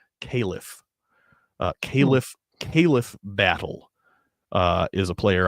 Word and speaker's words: Khalif: Also, Gonzaga's got that, it's spelled Khalif, but on broadcasts, I kept thinking this kid's name was Caleb because it's pronounced Caliph.